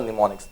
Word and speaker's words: mnemonics: now in this mnemonics okay m is silent okay and for the rest of the letters the answer is 2 2 3 2 7 0 that's the answer for mnemonics 2 3 2 seven